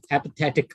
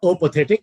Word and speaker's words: apathetic: hypothetic it's apathetic apathetic apathetic is how we pronounce this word okay apathetic it's not all pathetic it's apathetic apathetic means what apathetic